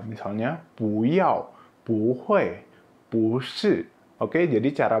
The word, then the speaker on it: 会: Kalian udah belajar ini hui, artinya bisa. 我会唱歌, saya bisa menyanyi. Nah, ini hui. Tapi kalau ketemu dengan huruf ini, bacanya jadi kuai ji, artinya akunting.